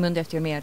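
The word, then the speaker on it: Mundu eftir mér: What has your reaction been to the international response to Never Forget and Mundo Eftir Mér, the original Icelandic version? I hope I'm pronouncing that close to correctly.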